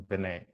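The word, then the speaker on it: Verná: V-E-R-N-A, but then it's got an apostrophe on the A, so she pronounces Vinay.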